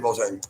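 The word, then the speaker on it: Vogelzanger: Volzang. Yeah. Like Fogel. Zang.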